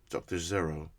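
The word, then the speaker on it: Gero: Oh, you actually pronounce it like zero, Dr. Zero. Ah, with the Z, not the J.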